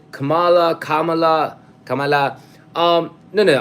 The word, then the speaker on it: Kamala: a Democrat he's not he's not our Cala by it's Kamala okay oh Richard you have